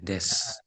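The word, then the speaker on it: です: Kemudian nanti ada huruf su di akhir. Nah, dibacanya dia jadi kayak u-nya tuh enggak kebaca. Oh, iya. Des. Des.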